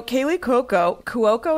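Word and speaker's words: Kaley Cuoco: Also, Kaylee Cuoco, is that how you say her name? Yeah. I always say it wrong. It's a lot of vowels.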